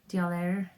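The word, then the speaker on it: d'Aulaire: Dialaire. Oh, there it is. There it is, yeah. Ingrid and Edgar Dialaire. D''Aulaire.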